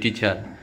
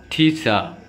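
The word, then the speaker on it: teacher: তারপরটা টিচার, কমনভাবে সবাই আমরা বলি টিচার, কিন্তু রিয়েলি উচ্চারণটা কি হবে? টিচার। ঠিচা। ঠিচা, শেষের আর উচ্চারিত হবে না, আর এদিকে উচ্চারিত হবে ঠিচা।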